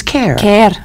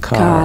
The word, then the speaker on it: Kerr: it and it is care care yes oh mhm well it's k R and you pronounce it car car like Clark and Derby and I if anybody